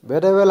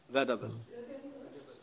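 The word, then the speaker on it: vaudeville: It is a religious vadavel. Dharma gi oiba kumai harao oire. You know the word vadavel. Is very interesting. Vadavel I was amna I wanted to nunga aiba interesting oibo wapham ni.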